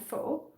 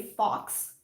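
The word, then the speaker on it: faux: understand it anyway um i've heard americans say fox which is hilarious like no it's not fox it's not um the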